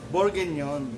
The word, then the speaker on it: bourguignon: Bourguignon. Bourguignon. Ganun siya pronounce. Bourguignon.